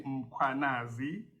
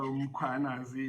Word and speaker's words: Mkwanazi: It's Mkwanazi. Okay. So Mkwanazi is the way to pronounce it.